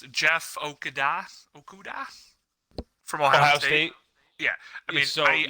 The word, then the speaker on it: Okudah: So I'm going to go, obviously, I don't know how to pronounce it, Jeff Okudah from Ohio State. Yeah, I think he's number it's one. It's Okda. You don't even pronounce it.